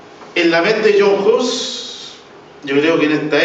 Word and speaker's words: Hus: Bueno, el día que John Hus, o Hus, porque el apellido es Hus, porque viene de Josine, estuvimos averiguando y así es como se pronuncia.